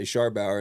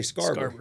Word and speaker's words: Scharbauer: And outside of Midland, if I make a dinner reservation, I say Scharbauer, and they never misspell it. Really? But in Midland, it's misspelled all the time because we say Scarborough. It's the Texas way of saying it.